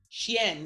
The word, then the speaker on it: Channa: lie is it is chan yeah it's kind of it sounds like dog the way you say dog in french yeah oh you know